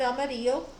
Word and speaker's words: amarillo: Amarillo. Amarillo is how you pronounce it in Spanish, but yeah, like the city, like the town in Texas, Amarillo.